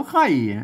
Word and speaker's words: ไคร่: ตัว ข้า เนี่ย เห็น มั้ยอ่าน ว่า ใคร อ่าน ว่า ไข่ ออก เสียง ใคร เสียง คอม เสียง ไข้ เหมือน กัน นะ ครับ อือ ก็